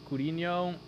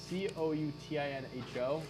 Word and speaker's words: Coutinho: you ask big mike if he thinks felipe coutinho will stay in aston villa after his loan